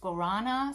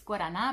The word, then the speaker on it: guarana: some powdered guarana so this is actually not pronounced guarana so it's guarana believe me i live 10 years in brazil